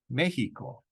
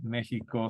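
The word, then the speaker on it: México: Equis exist here Mexico so the X also has two sounds it can have a c s type of sound as in existed or it can have a j sound like in Mexico you might even see Mexico spelled sometimes with a J Mexico okay and repeat it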